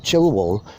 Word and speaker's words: Childwall: And there's another place a few miles away called Chilwell, but it looks like Childwall.